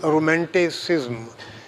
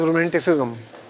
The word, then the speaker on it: romanticism: So, the subject which I have to speak on today is romanticism. Again mispronounced as romanticism. There is no U after S.